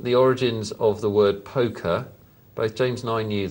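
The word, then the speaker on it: poque: crash flux has emailed us in to say poker took its name from the word Pock pronounced poke so I've been pronouncing it wrong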